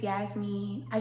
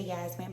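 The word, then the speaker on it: Yasmeen: So I just be like, you're not saying my name right, so just say Yasmin. But it's really Yasmin. But some people say Yasmini or Yasmine, and I'd be like, where did you get that from?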